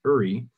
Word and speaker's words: Yuri: but it got to my first name yuri or i pronounced uri and here i was